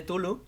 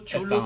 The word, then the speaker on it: Cthulhu: Así que lo pronuncies como lo pronuncies, Tulu, Chulu, Cthulhu, Cthulhu, está bien.